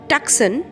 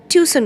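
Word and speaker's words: Tucson: সি এস ও এন অনেকেই বলে টাকসন আসলে ওটা টিউশন উচ্চারণ হবে আরিজোনাতে একটা স্টেট লোকটি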